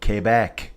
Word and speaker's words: Quebec: Quebec is how you say it, folks.